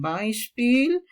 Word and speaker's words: Beispiel: Aquí tenemos E, I se vocaliza ay, entonces vas a pronunciar ay. Siempre que encuentres este, sai. Entonces dices bye, ejemplo, zum Beispiel. Después tenemos aquí EU, va a sonar como hoy.